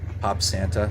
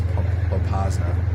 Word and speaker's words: Popasna: Pop Santa? No, it's Popasna. Just sitting there.